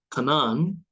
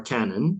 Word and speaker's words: Canaan: On that day, there will be 5 cities in the land of Egypt that speak the language of Canaan, or Canaan, depending on how you say it, and swear allegiance to the Lord of hosts.